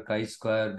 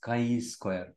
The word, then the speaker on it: chi square: um this is how it looks like your Chi Square distribution okay it is pronounced as Chi Square Chi Square it is written as something like